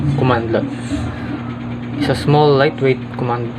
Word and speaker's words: cmdlet: A cmdlet pronounced as a commandlet.